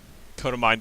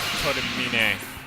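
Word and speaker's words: Kotomine: I'm gonna skip this because it's just the same quote text that Codamine says to us. Yes, I'm pronouncing his name wrong. I realize it's supposed to be Codamine.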